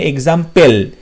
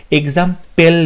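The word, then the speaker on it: example: আছে, তারপরে পিইএল মানে এক্সাম্পেল, এক্সাম্পেল নয় কথাটা, কথাটা হচ্ছে এক্সাম্পল, পল পিএলই, সো ইএক্স এম পিএলই, option C হবে সঠিক উত্তর। অপশন ডিতে বলছে এক্সাম্পেল, এটাও সঠিক উত্তর নয়, রাইট উচ্চারণটা হবে এক্সাম্পল, আর অপশন সিতে সঠিক বানানটা রয়েছে।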